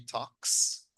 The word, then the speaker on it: talks: Ok, entonces aquí recordemos, she talks. Ok, talks. Esta L no la pronunciamos. Ok, muchachos, como TikTok. Si pueden decir TikTok, pueden decir talks.